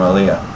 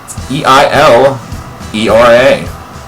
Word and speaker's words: Eilera: Society, from Jägermeister, and from Elia, or should I say Elira? Eilera. That's how it's spelled right there.